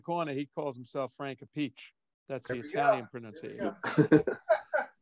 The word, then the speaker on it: Appice: know that whole thing because Appice, Appice.